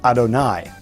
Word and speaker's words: Adonai: object lesson would be when the word Yud He Vav He is written in the Torah and we pronounce the name Adonai. So it's written one way in the Torah, but we pronounce it or chant it using a different word.